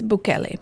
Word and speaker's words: Bukele: It's Bukele, but I think it's fine. I said it gringo style.